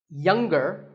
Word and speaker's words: younger: Now, we say finger, we say the G. Younger, again with the G, but singer, no G.